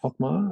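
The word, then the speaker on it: Hochmair: who is a founder of Cochlear, and Ingeborg Hochmeier, I think is the correct pronunciation, who company became Medel, which is an Austrian company.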